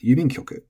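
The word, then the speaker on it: 郵便局: And this word, it's quite long, 1, 2, 3, 4, 5, 6, which means we can be very sure the accent is going to be 3 from the end. And since does not allow an accent on it, at least not in Tokyo Standard Japanese, moves 1 back, yubin kyoku.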